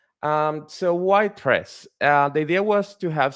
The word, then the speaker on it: tres: It's named tres because it's the Spanish word for three. It's pronounced tres, and it's reference to the 3GS library, of course.